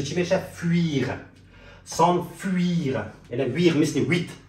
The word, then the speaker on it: fuir: پس تلفظ چی میشه؟ fuir، s'enfuir.